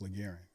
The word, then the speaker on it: LaGaryne: me as uh my first name is pronounced laran we just we shortened